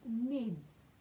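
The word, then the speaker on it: Knids: And chapter 8, The Vermicious Nids, with a silent K, we will discover all about tomorrow.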